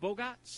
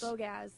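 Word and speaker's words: Bogacz: Is it Bogats? Bogaz. Bogaz. Yeah. Is that the CZ at the end?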